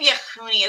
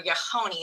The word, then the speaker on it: Yehuni: By the way, and the name Yehuni is very rare. There's only 2 or 3 attestations of it, or Yehoni as I pronounce it.